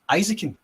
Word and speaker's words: Eizouken: did you say it isakin isakin is it not isakin isakin it's isakin right because that's how they pronounce it in the show yeah okay it's it's similar to Spanish pronunciation i a e o